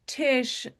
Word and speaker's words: Tsh: It's Tish sounding like it has an I but with no I.